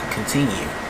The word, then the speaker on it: Kontinue: As I know the word continue means to keep going or something like that, but his name's actually spelled with a K, not a C. So, yeah, continue.